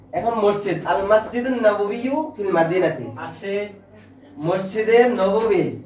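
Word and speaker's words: المسجد النبوي: তা হাজা অর্থ ইহা, আল মসজিদ নবী, মসজিদ নবী, আমরা বাংলাতে বলি না মসজিদ নববী, ওইটাই আরবিতে বলে আল মসজিদ নববী, মসজিদে নববী, আরবিটা উচ্চারণ করো আল মসজিদ নববী।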